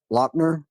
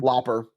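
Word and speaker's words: Lauper: Uh probably Captain Lou Albando and the Cindy Lob Lopner. Can you say her name? Looper.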